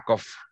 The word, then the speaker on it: cough: ¿Puedes repetir la pronunciación de cough? ¿Como F? Se suena como F, exactamente. A cough.